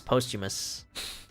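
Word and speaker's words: Posthumus: It's like it's spelled Posthummus. P O S T H U M U- Sus. Postimus.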